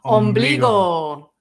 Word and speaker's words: ombligo: Ombligo. Belly button. No? Ombligo. So the G is strong there. It's a go.